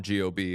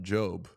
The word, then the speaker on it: GOB: So Job is George Oscar Bluth, but they just call him G-O-B and then people mispronounce it as Gob.